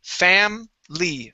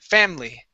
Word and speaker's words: family: So that I, right before the L-Y, we want to cut that out, Okay? And we say family, family.